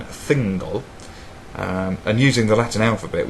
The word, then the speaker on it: Thingol: To those of you who have no frame of reference, this may be pronounced as Tehingol rather than Thingol, and using the Latin alphabet we'd have no idea how one would pronounce this word.